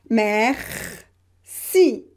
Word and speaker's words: merci: So E, here it will be pronounced E because there is a consonant in the same syllable just after. Merci. So first syllable mer, second si, merci, merci.